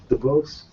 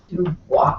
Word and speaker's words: Dubois: DeBose? Dubois. Dubois. 1,000 lashes with a whip. Canadian. Nobody ever does it.